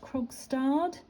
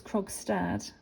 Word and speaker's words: Krogstad: tarot by Kerry krugstad I think it probably is pronounced krog starred I would pronounce it in English as krogstad but um it did come all the way from America so I think that's usually how they pronounce it so I hope I